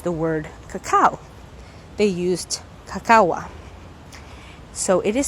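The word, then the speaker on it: kakawa: They used cacawa. So it is spelled K-A-K-A-W-A.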